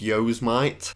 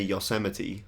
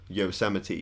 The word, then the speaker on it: Yosemite: seeing it on Astroworld I genuinely thought it was pronounced yos might but I've watched reviews and stuff and they say Yosemite Yosemite I still might be